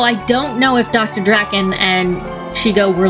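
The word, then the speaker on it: Drakon: It's Draken. Like the villain from Kim Possible, for anybody who cares.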